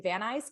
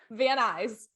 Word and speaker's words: Van Nuys: Brought together a small team of college students, artists, engineers, and set them up in a warehouse in Van Nuys, California.